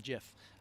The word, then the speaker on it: GIF: gif uh yes jeff uh that's how you pronounce it like uranus um jiff of the entire process so hopefully this doesn't